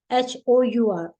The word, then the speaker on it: hour: जैसे इसमें एग्जांपल नहीं दिया हुआ, जैसे HOUR और होता है, घंटे के लिए बोलते हैं ना, एक घंटा है मेरे पास, तो 1 hour, तो उसमें एच साइलेंट है और UR की साउंड आती है, तो इसलिए उसमें भी एन यूज करते हैं।